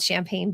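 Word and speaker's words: Champaign: do you love that I'm from a town called Champagne by the way it's ch m p AIG GN but it's the same obviously pronunciation I do love that I'm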